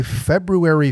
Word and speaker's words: February: will drop on Friday, February 4th. My wife jokes me because I'm pronouncing that R in the middle of there because that's how it's spelled.